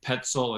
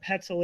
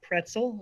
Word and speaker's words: Petzl: that aren't aware of who or what Petzl is it's it's spelled PE TCL it's not pretzel I wouldn't talk about